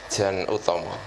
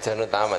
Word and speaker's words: Janutama: Maka kita terima kasih sekali pada malam hari ini kita diberi pencerahan oleh Mas Jan Utomo. Oh gitu ya, bacanya begitu ya, bukan Jan Utama ya.